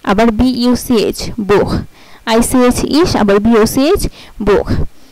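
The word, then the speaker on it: Buch: আচ্ছা, এই যে যেমন আইসিএইচ ইশ, আবার বিইউসিএইচ বুখ, আইসিএইচ ইশ, আবার বিইউসিএইচ বুখ।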